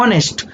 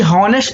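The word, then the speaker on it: honest: ऑनेस्ट, ना कि हॉनेस्ट। तो हम इसको बोलते नहीं, क्या बोलते हैं इसको? ऑनेस्ट। आ से प्रोनाउंस होता है, तो आ क्या है आपका?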